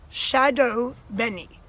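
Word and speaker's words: shado beni: the subtitles turned on right now this is pronounced Shadow Benny and this is what the subtitles probably told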